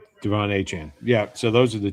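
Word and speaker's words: De'Von Achane: Uh, Devon Achan. Devon Achan.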